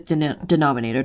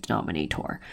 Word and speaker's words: denominator: small flip denominator don't shouldn't pronounce its denominator don't pronounce it dominate or flip denominator and numerator